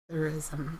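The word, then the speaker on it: psithurism: No, I think the S is silent. So it's Pythurism.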